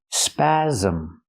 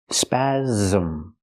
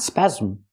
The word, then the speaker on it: spasm: Pronunciation, spasm. The S makes the z sound like zebra with a voice. Z. Spasm. It has two syllables. Not spasm, but spasm. Spasm.